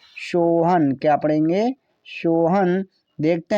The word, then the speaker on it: सोहन: ना, तो ये हुआ सोहान। तो सोहान क्या उच्चारण सही है? कभी आपने किसी का नाम सोहान सुना है? नहीं, ये गलत है। क्या है? गलत। ठीक हो जाएगा सोहन।